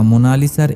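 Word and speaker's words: Mona Lisa: হাসি লিওনার্দোদা ভিঞ্চির আঁকা মোনালিসার এই ছবিটি সারা দুনিয়ার মন কেড়ে নিয়েছিল তবে এই চিত্রটির নাম মোনালিসা নয় এটি একটি উচ্চারণগত ভুল দুভাগে বিভক্ত নামটি আসলে মোনা লিসা ইতালিতে মোনালিসা শব্দের অর্থ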